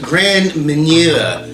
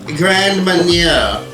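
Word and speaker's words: Grand Marnier: brandy right there okay this if i can pronounce it right is grand manure no not not horse manure grand mania i recently got this and i use it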